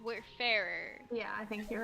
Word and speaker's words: Wayfarer: no no no w-a-y-f-a-r-e-r which is like where far but it's where fairer yeah i think you're